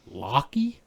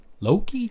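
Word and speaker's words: Lokki: it's spelled weird oh it's spelled l o k k i locky Loki Lo like Loki yeah huh I'm sorry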